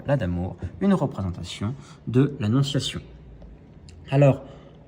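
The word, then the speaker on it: lacs d'amour: lac d'amour, du fameux, donc qui se prononce là d'amour, du fameux nœud de Savoie, 3 nœuds de Savoie, et vont apparaître les roses, symbole de la Vierge.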